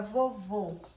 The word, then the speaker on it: vovô: Muita gente conhece assim, porque o som sai fechado, como eu usei na palavra vovô. Vovô.